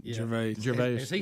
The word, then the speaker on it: Gervais: Gervais.